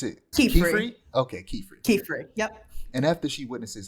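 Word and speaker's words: Qifrey: a male witch named help me with this pronunciation is it ke okay ke fre ke fre yep and after she Witnesses how he uses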